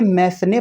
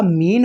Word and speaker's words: Mesne: बहुत सारे स्टूडेंट इसको बोलते हैं मैसने प्रॉफिट। तो दोस्तों, यह मैसने प्रॉफिट नहीं होता। ये होता है आपका मीन प्रॉफिट। इसमें एस साइलेंट रहता है।